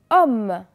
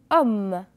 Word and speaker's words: homme: Homme. Répétez après moi. Homme. Est-ce que je prononce le H? Non. Homme.